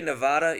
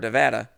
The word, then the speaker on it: Nevada: Also, if you say Nevada, you're saying it wrong. And no, what's even fucked up for me is now when I see the word Nevada, I don't think Nevada, and I don't think Nevada either.